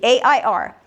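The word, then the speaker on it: heir: A I R.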